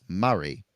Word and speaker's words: Murray: original members was named Murray, but how they say it naturally to them is Murray in their Aussie twang, you know. So I was always confused, like is it Murray or Mary?